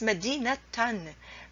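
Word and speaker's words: مدينة: cannot say for Medina you cannot say Medina ha Medina tahan medina de Haan it's Medina tan Medina tone Medina 10 so you have to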